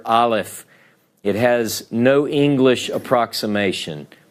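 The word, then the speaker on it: אלף: are familiar and you can hear the names pronounce this is the Hebrew letter Aleph it has no English approximation Olive this is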